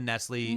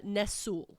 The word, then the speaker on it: Nestle: and nesle okay no relation to the Nestle no relation nesle not buying up all the